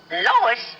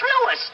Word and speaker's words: Louis: Lois? Me name is Louis, not Lois. Gee whiz, everybody in Triple H me name wrong. It's Louis. L-O-U-I-S.